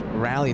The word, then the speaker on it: Raleigh: Raleigh thank you John Raleigh that's not the locals pronounce rally Durham North Carolina right